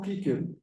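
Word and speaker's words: Cicero: gosto de je nenhum Cícero por exemplo eu nunca falo kiker né porque fica muito estranho né ninguém vai nem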